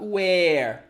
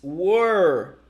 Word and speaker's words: were: Be careful because it's not where, okay? Where is it? The interrogative pronoun to talk about location. It's were, were.